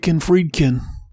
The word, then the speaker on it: Friedkin: Is it Friedkin? He's William Friedkin.